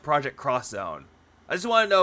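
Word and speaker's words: Project X Zone: see a game like project xzone it's actually pronounced project cross Zone I just want to know if it's like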